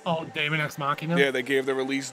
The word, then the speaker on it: Daemon X Machina: Nintendo finally gave a release date, Kyle, for how do you pronounce the name? Machina D. Oh, Daemon X Machina?